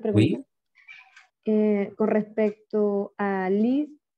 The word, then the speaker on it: lis: Que se escribe lis, ¿no? Pero habíamos dicho que esa S no se pronuncia. ¿Por qué? Pues, bueno, en la primera persona se conjuga lis, ¿cierto? Pero se pronuncia li.